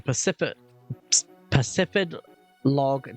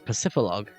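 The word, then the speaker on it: Pacifidlog: but I wanted to make our way to Pacific Log Town. Is that how you pronounce it? Pacific Log? I always thought it was Pacificlog.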